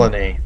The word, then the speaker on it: Solanae: Specifically, we're in the Solenius... how's that pronounced again? Solanae.